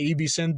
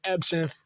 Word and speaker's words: EbSynth: synth all one word I used to call it EB synth because I didn't know the the pronunciation was e but I was vly corrected online on Twitter and all that good stuff